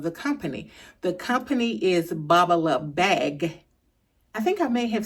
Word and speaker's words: Babalabag: of the way first is the correct uh pronunciation or the correct way you say the name of the company. The company is Bubalou Bag. I think I may have said in previous videos Bubalou Bags with a s, but it's Bubalou Bag and